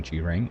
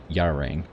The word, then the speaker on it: Gerang: So even though it starts with the G, it's not Gerang, it's Yarang, or J-Rang, I think. J-Rang? Gerang? It's a J. It sounds like a J.